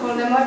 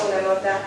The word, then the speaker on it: Voldemort: jmenuje Tom ro aren podle ringové se má jméno správně vyslovovat dle pravidel francouzské vyslovnost Voldemort Voldemort znamená francouzský krádež